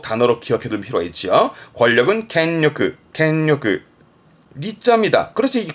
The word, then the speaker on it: 権力: 발음은 켄요크, 조심할 거 음은 캥이에요. 그래서 항상 대표 단어로 기억해둘 필요가 있죠. 권력은 켄요크.